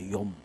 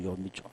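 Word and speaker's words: יום: 발음이 좀 그런데 욤. 이게 히브리어로 욤이죠.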